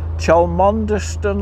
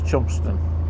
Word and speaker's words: Chelmondeston: Chelmondeston Lock. That's not how you say it. No, it's Chumston.